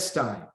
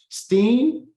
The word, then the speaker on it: Steen: So I said Stein, Desi. You writing Stein doesn't help me if you're trying to help me pronounce it better. Steen, is that what you're trying to tell me? Steen? Steen. Okay, cool.